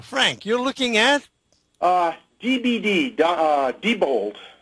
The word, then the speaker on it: Diebold: DBD, Diebold, it's pronounced. I've never known how it's pronounced. It's Diebold or Diebold, but I guess Diebold is what most people say.